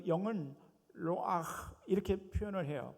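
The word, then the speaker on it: רוח: 루 아흐 발음을 저렇게 합니다. 하나님의 영이라고 했을 때 그 하나님의 영이라는 말은 히브리어로 루 아흐 이렇게 표현해요. 자, 여러분 모두 한번 저를 따라서 보세요. 루 아흐.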